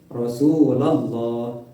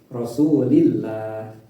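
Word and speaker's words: الله: Yang pertama bacaan tafhim atau jangan ditebalkan. Yang kedua bacaan tartib atau ditipiskan bacaan yang tafhim apabila lafaz jaralah didahului oleh harakat fathah atau domah seperti lafaz rasulallah dan rasulullah itu bacaannya tebal. Tapi apabila dibaca sebelum sebelum lafaz jalalah ini berharakat kasrah maka dibacanya tipis rasulillah seperti itu.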